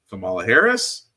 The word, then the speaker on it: Kamala Harris: approach now of course Kamala Harris that is how you pronounce her name which is surprising to